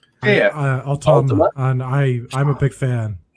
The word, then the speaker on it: Altama: Altama. Yeah. Altama.